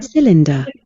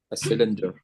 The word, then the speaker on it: cylinder: Cylinder. A cylinder. Yeah. The first syllable is stressed.